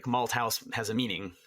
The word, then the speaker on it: Malthouse: Malthouse. Right. Yeah. Fantastic. Just, I wasn't sure if it was a th or my name has a th in it. A lot of people say the th, yeah.